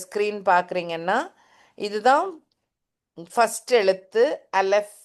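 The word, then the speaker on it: אלף: For example, இந்த இந்த என்னோட ஸ்க்ரீன் பார்க்குறீங்கன்னா இதுதான் ஃபஸ்ட் எழுத்து, அலெஃப் தான் அதோடைய பேர். தட்ஸ் அப்படி தான் ப்ரொனவுன்ஸ் பண்ணணும்.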